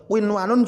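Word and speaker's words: قنوان: Winwanun juga tidak boleh dibaca dengung, sahabat Quran. Tidak boleh dibaca dengung, harus dibaca jelas.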